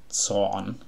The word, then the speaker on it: Zorn: z o r n in German the word z o r n pronounced son means like Rage or anger Fury I don't know if